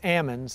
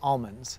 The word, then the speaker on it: almonds: California's largest export crop I believe anywhere north of Sacramento says Amin's anywhere south of Sacramento says almonds Tobin's family has grown